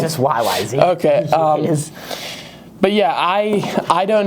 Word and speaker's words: YYZ: Oh, it's just YYZ? Yeah, it is. Oh, okay. I was going to put the title up here because I wasn't sure if it was like Yiz or something.